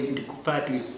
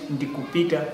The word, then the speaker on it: ndikupita: So no, we don't say Ndikupata. We do it Ndikupita, which means I'm going.